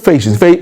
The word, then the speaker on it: ফ্যাসিস্ট: ফেসিস্ট, তাই না? সঠিক উচ্চারণটা হচ্ছে ফেসিস্ট।